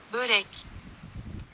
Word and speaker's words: börek: Let's figure out how to pronounce this. Wait, let me get Google Translate. Burek. Let's see if I can get speech output. Börek. Börek. Burek. Börek. Börek. Burek. Börek. Burek. Börek. Burek. Okay, burek.